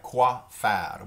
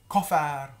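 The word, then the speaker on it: quoi faire: this term a lot it looks like quoi fat which would literally be what to do and and if we pronounced it that way that's probably what it would mean but but we didn't pronounce it coughing out or coffee Co fire or Co fire and co founder co-founder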